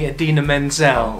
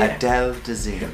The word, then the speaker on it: Idina Menzel: Was it John Travolta introducing Idina Menzel? Oh yes. Oh, how did he pronounce it? Adele Dazeem. Adele Dazeem.